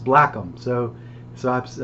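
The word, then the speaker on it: Blackham: ACK ma ma H am black but it's pronounced black them so so I've spelled it BL ACK e/m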